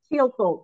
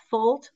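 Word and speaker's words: Thielfoldt: students when I teach teal like the color blue green fult like a baby horse with an F okay teal F very good you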